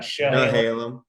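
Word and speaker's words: Chehalem: And the Halem brothers and sisters, Shahalem. Yep, you got Shahalem.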